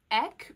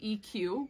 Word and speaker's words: Eq: I would pronounce it as Katie Eck, but I've heard people say EQ when they don't really know what it's referring to, but it's Eck because like equestrian. You don't say equestrian unless you're crazy.